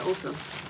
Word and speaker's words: Ulta: Is it Ulta? Ulta, right? That's how you say it, Ulta.